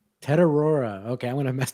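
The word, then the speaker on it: Tetairoa: the way, you're the you're the guy who pronounces the the names here. How do you say McMillan's first name? Teroa. Tedora.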